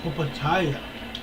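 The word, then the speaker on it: Opetaia: Opataya.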